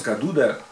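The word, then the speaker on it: Cadoudal: Ensuite George Cadoud qu'on prononce Cadoud en Breton.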